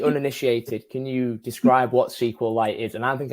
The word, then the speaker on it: SQLite: can you describe what SQL light is and I don't think I'm really pronouncing that wrong right is it's SQL light right yes it's sqlite kind of like a mineral so sqlite is is